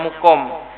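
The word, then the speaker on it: مُقام: df seperti waqiriha muqha kalau fi'ilnya itu iqoma aqoma yuqimu, maka bacanya muqom.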